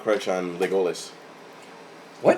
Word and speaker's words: Legolas: Luis's silent crush on Legolas. What? It's pronounced Legolas.